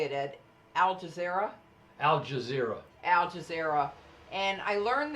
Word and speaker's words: Al Jazeera: Al Jazeera.